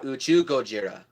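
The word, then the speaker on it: 宇宙ゴジラ: basically done whereas the actual term would be you chew Gojira because the Japanese word for space is to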